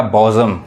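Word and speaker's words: bosom: यहाँ पे जो पढ़ाएगा बॉजम, जो पढ़ाएगा बॉजम friend, he इज़ माई बॉजम friend, यानी वो मेरे जिगरी दोस्त है।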